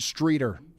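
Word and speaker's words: Streator: We do have a viewer out here saying it's pronounced Streeter.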